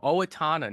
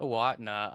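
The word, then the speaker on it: Owatonna: Max's poor pronunciations uh from Owatana, not Aatna.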